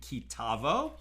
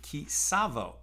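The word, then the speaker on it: Ki Tavo: This is right at the beginning of Torah portion kitavo or if I'm more ashkenaz pronunciation, kavo.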